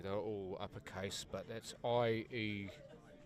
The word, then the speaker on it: Ielua: That is a lowercase, well actually they're all uppercase, but that's I-E-L-U-A. So many people get that wrong. It's Ielua. It's the best way I can pronounce it as a non-Samoan person.